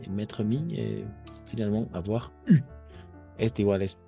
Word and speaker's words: eu: Oui, mettre, mis, et finalement avoir U. Este igual es U. Solo vamos a pronunciar U sin la E. La E es muda.